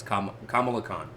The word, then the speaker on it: Kamala Khan: And she leaves the room, and what does Kamala do? Or Kamala. I keep mispronouncing her name. It's Kamala Khan.